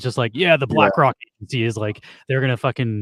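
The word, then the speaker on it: Blakroc: The Black Keys did hip hop remixes, had rappers rap over stuff, and it's called BlackRock, but it's spelled with ROC instead of ROCK.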